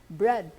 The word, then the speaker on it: bread: and short o bread bread was always spelled this way except it was pronounced as braid and then they said no forget about that spelling let's just pronounce it as bread but then they had